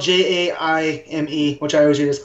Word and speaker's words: Jaime: Is that how I'm pronouncing it? Yeah, Jaime. Jaime. You can call him Jamie. I mean, it all depends.